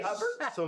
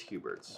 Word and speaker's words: Hubert's: So Yeah, don't you say Hubbard? So most people say Hubbard's. The official pronunciation is Hubert's.